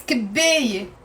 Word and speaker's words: كباية: Okay, so the word on its own is كباية. كباية is a cup. And it has a te marbuta, which we don't pronounce.